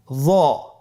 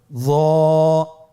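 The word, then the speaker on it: ظاء: য। একটু মোটা করে বলতে হবে। হরফটি হলো মোটা হরফ, বারিক করে পড়া যাবে না এবং হরফটি উচ্চারণ করার সময় অবশ্যই 1 আলিফ টেনে পড়তে হবে। আমার সাথে বলুন য।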